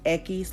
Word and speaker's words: equis: sure you notice that X is Equis like Dos Equis like the beer two x's I know